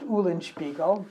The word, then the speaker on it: Eulenspiegel: and in Flanders it's pronounced Eulenspiegel, but Okay.